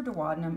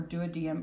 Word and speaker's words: duodenum: D is for duodenum or duodenum, however you want to pronounce it.